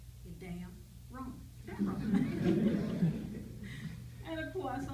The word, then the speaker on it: Damron: that I saw and I didn't know whether he pronounced his name Dameron or Damron and he told me one day he said damn wrong and of course I